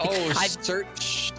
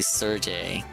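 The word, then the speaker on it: Cherche: church or Serge Serge S I feel like church I feel like I've been saying church but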